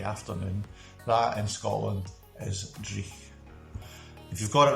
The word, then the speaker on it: dreich: And if you remember a couple of weeks back, we did a word and it was called dreich. Dreich, if you can say that. That is spelled D-R-E-I-C-H.